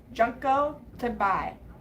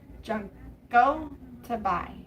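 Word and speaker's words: Junko Tabei: And the answer is Junko Toby. Junko Tobi.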